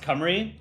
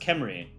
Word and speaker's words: Cymru: By the way, Kemri is pronounced Cymru. I've always thought it was pronounced Kemri.